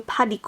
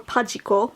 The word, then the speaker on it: Padico: To test this pigment out, I'm going to be using my new Padico or Pajiko mold as it's pronounced here in Japanese.